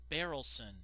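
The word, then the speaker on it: Berylson: Oh no, it's spelled wrong here too. It's supposed to be B-E-R-Y-L-S-O-N. Barrelson.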